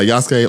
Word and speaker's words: Yasuke: to be talking about uh yasuke or yuk however you want to pronounce it I've heard both I like Yas Yas